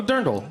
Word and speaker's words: Dirndl: it's a dirndl. Is that how it's pronounced? Yeah, it's a A dirndl.